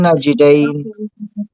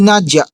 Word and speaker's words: النجدين: Wahadaynahun najdain. Wahadaynahun najdain. Hindi nadya. Yung nadya ay palitan mo ng naji. Naji, Yes.